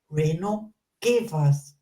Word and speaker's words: Reino Gevers: Once again, welcome to the Inspired Podcast, Reino Gevers. Thank you. Thank you.